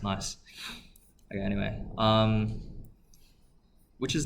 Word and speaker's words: gneiss: I think it's actually pronounced nice.